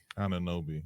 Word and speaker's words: Anunoby: Anunoby. Anunoby.